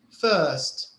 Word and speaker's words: first: But in the second word, first, sometimes in British English they say first, right? Yes. So the R is silent. You cannot hear the R.